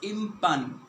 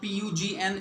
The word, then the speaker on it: impugn: of its shape okay impugn this word is pronounced as impugn not pu GN is spoken or it is pronounced as in